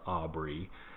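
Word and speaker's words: Ob/Re: So it's pronounced Aubrey, Ob and Re with a slash in the middle.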